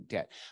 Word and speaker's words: debt: B right and so that's why we don't say the b in in debt but some smarter Scholars